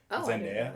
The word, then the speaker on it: Zendaya: Zendaya, I think it's pronounced Zendaya. Everybody says Zendaya, but it's supposed to be Zendaya.